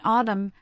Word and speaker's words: autumn: Furthermore, N can be silent most notably in the extremely common diagraph MN at the end of words. In autumn, column and hymn, the N is silent and the M sound stands alone.